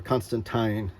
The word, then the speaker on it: Constantine: the John Constantine character or Constantine is how Alan Moore pronounces it so you see